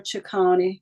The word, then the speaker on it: Chicoine: So talk to us about Chicoine. Did I say it right? Chicoine. It's okay. That's Chicoine.